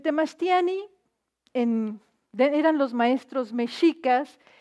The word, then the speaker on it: Mexica: en eran los maestros micas y eran aquellos eruditos que formaban a la gente importante en México del pueblo mexica no no se dice México ni mexica es Mica y yo quise comenzar